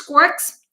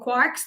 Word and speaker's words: quark: we have the six quirks up down charm strange stop Bottom now the good thing the interesting thing about quirk or quarks depending on your pronunciation is that these cannot